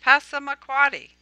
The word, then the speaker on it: Passamaquoddy: the second is Pizza Dana Point cosmic Claudius pronounced Passamaquoddy it comes from the tribes native name which